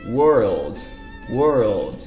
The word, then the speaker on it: world: como se fala mundo world world repara que tem 1l ali no meio dessa palavra e é como eu